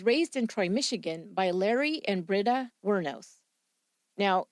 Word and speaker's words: Lauri: that I found said everybody pronounced it Larry Eileen as you might